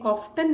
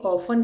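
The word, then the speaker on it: often: ऑफन में ऑफ्टन नहीं पढ़ते, ये ऑफन है, इसमें टी साइलेंट है।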